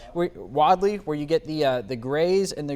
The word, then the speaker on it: Wadley: We're going to see these areas near Wadley, I believe it's pronounced, Wadley, where you get the grays and the greens together.